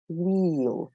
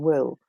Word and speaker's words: wheel: Do you remember the long e as in Jeep? So we have wheel rather than will.